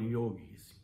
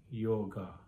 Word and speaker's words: yoga: people who supposedly practice yoga including the so-called yogis it actually starts by not being able to pronounce the word properly the super majority of people who practice yog are clueless about the right pronunciation of the sanskrit